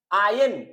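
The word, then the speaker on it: iron: आयरन आउट our differences आयन actually pronunciation अलग है आयन बोलना चाहिए लेकिन फिर भी मैं आयरन बोलके प्रोनाउंस कर लेता हूं आपको समझाने के लिए अदर वाइज सम स्टूडेंट्स और some people can not understand the correct pronunciation because of that I will pronounce it एस आयरन सो यहां पर क्या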